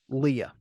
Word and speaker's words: Leia: the first time that I heard Leia's name pronounced Leia and not uh what what is I'm looking back at my notes um Leah in a new hope it's pronounced Leah now it's pronounced Leia and I don't think it was pronounced Leia until like halfway through the movie or more um and my final